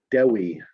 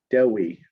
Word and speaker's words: Dewi: Page 18, line 24, Dewi. Dewi.